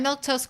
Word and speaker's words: Milquetoast: them out loud uh but I'm milk toast CLA you can see it right over there that's how you say my name I stream Monday Wednesday